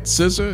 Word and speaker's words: SZA: SZA?